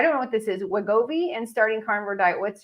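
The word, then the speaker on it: Wegovy: who's taking I don't know what this is wagobi and starting carnivore diet what's your thoughts and suggestions first I don't know what Gobi is well first of all uh congratulations for pronouncing it right oh so wegovi is the uh you know how we are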